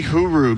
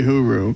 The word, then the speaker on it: Hyry: I mean, it's probably Huru because it's spelled Hyry. And if I remember from Atu Ratu, in the Finnish language, that's too. So this is probably Huru.